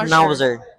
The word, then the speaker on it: Schnauzer: Do you pronounce this one? Schnau Schnauzer.